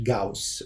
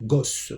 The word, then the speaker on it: Gauss: Cette méthode a été attribuée à un savant qui s'appelle Gauss en allemand, Gauss en français. Le AU, ça se prononce AU en allemand.